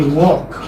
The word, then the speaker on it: walk: Walk, okay, walk. What is silent here? L is silent.